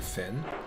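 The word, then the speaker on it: Pfinn: the sludge Dynasty the P stands for Finn like Huck Finn but it's spelled p-f-i-n-n with one hit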